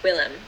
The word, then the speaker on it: Willem: Willem. And then it's Seymour. Sorry. I know why you're laughing. Willem, like Will and then hem.